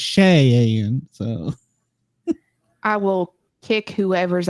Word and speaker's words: Cheyenne: Be careful how you say her name. You'll get a comment. It's not Shy, it's Cheyenne.